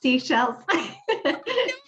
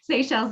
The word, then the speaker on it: Seychelles: Seychelles. All the way this morning, I kept saying, okay, Rhonda, this is how it's pronounced.